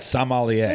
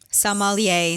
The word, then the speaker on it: sommelier: the summer yeah yeah and say it again sommelier i almost people always said some ollie see how she says it yes i call